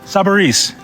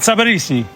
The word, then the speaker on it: Sabarese: Sabarese, not Sabarisi. The Italian pronunciation is Sabarese.